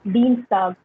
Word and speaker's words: Dienstag: Like Dienstag, like similar we have dollar, the sound in English. We have Dienstag, the sound, day.